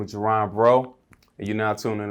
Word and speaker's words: Jeron: My name is Jeron. It's pronounced like Geronimo, just in case anybody cares.